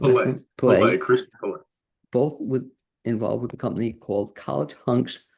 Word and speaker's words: Pillay: And we're speaking with Ann Smith and Christian pronunciation Pillay. Pillay, Christian Pillay.